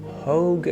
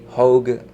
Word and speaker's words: Hogue: Hogue rhymes with Vogue. Okay. Hogue, like rogue.